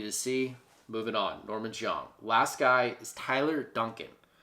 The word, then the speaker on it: Xiong: Next guy is Norman Zhang. I think that's how you say it. Xiong is how you spell his last name. Norman Zhang.